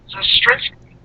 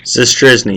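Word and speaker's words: Zastryzny: In our next show tomorrow, we will have Rob Zastrinsky. No, yes. Did I pronounce it right, Luke? Zastrisny, yep.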